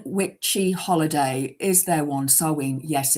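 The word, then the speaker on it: Samhain: It is um it's spelled Sam Hayne but it's pronounced sewing.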